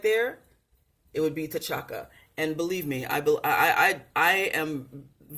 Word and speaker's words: T'Chaka: And T'Chaka, or Chaka, it's ja sound.